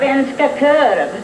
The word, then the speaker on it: Svenska korv: How do you pronounce that? Svenska korv.